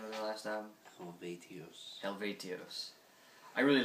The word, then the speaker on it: Helvetios: I really like their last album, which was how you pronounce the name of their last album? Helvetios.